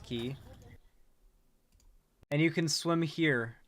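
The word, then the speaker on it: Cay: place called Compass key it's spelled c-a-y but it's pronounced key and you can swim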